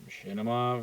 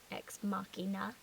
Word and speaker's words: Ex Machina: I thought you pronounced it Machinima for like half the time. And then like Machinima. It has no M in it. Um, Okay, it's not a chimera. It's Ex Machina.